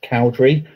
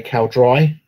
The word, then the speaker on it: Cowdrey: His surname is Cowdrey, but people will say Cowdry because that's how it's spelled. Even though it doesn't sound right.